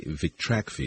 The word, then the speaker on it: Vitrakvi: going to discuss today vrai is that the uh correct pronunciation of the compound yes it's a tra name vrai